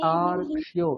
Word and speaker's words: তার্ক্ষ্যো: তার্ক্ষ্যো, এখানে রেফ রয়েছে একটা, ঠিক আছে? তয়াকার, তারপরে কয় মূর্ধন্য জফলা, রেফ ওকার, ঠিক আছে? তাহলে তার্ক্ষ্যো, ওই রকারটা শোনা যাবে।